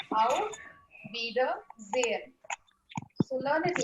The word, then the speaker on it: Auf Wiedersehen: You have to say auf, wieder, sehen.